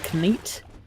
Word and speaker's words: Knight: have to remember is they pronounce the k and Knight so it was a knit yeah and that kind of it gets in your head because it's almost right and then it's not yeah like you hear